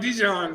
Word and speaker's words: Dijon: It's pronounced like Dijon though.